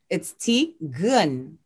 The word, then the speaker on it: Tigran: And I love how in the book it says Tigran, but you pronounced it differently. Yes. It's Tigran.